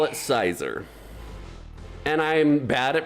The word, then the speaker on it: Scizor: River of Peace says, "It's Scizor, like Little Caesars, by the way." Or no, I think it's a short I sound. Scissor? Well, I call it Sizer.